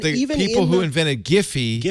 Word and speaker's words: Giphy: No, the guy who invented the GIF format says you pronounce it GIF. And the even people who invented Giphy say it's Giphy. So that's fine. That's Giphy. Now, because they don't want to be Jiffy.